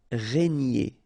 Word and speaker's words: régner: formé de régner sur remember here gn nier ni régner régner régner sur ce